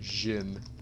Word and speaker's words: djinn: Djinn, however you want to pronounce it, I don't care. Just don't be rude about it. What I mean by that is don't call someone stupid when they pronounce it like Jin.